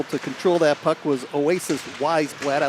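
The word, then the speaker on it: Oasiz: o theme Oasis is spelled o-a-s-i-z but pronounced Oasis one-nothing Detroit Blue Jackets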